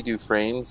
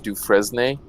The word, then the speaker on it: Dufresne: ago to realize that Andy dufresne's last name wasn't Dufresne it was du fresnay that's sort of how it's spelled I guess Lord like